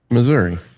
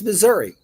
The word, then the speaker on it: Missouri: Missouri. It's Missouri. We pronounce it Missouri.